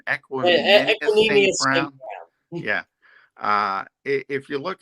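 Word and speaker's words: Equanimeous: Equinemius Brown.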